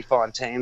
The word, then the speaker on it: Fountain: Well, no, I mean, I think it was originally Fontaine before it was anglicized and went like several centuries ago. Yeah, Ellis Island will fuck us up. That's all we know. But Fontaine is fine. But it's spelled like fountain. That's all people should know.